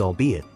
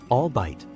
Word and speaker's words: albeit: try this one it is pronounced as albeit usually mispronounced as albite albeit is a formal conjunction meaning although or even though the pronunciation emphasizes all three syllables distinctly example he managed to